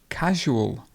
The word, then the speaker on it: casual: over the oh carrot casual casual casual and the stress would be casual this is you do